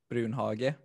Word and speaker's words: Brunhage: And it's like the in Swedish we used to say Brunhage, okay. but then like everybody has said Brunhage everywhere, so I'm like, yeah, it's that now.